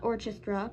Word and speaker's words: orchestra: Princess Doremi, first violin in the royal court orchestra, not orchestra, because that's a mispronunciation because of the H being silent in that word, led by her husband.